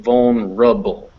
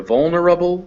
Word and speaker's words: vulnerable: this r attaches to this schwa over here and we get vuln rubble you try saying that yeah so it's either vulnerable or vuln rubble but either way so yeah so that's how it's pronounced bone rubble and see it's a